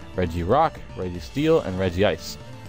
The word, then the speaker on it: Regice: Rock Reggie steel and Reggie ice or regg ice is how you pronounce it I think but I don't care